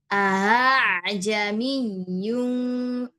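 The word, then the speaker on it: ءأعجمي: Ajamiyun. A jadi yang pertama hamzahnya dibaca jelas, sedangkan hamzah yang kedua itu dibacanya samar antara hamzah dan alif.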